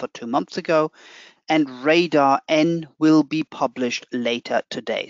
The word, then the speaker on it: RDR: rdr r and rdrc or actually how i should pronounce it radar n radar r and radar c and as i said